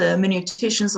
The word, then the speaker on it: hermeneuticians: Her field of interest includes post-Christian philosophy, in particular the hermeneuticians of suspicion. Did I pronounce that correctly, Louise? Absolutely, the hermeneuticians of suspicion, our good friends, Karl Marx, Friedrich Nietzsche, Charles Darwin, and who am I leaving out?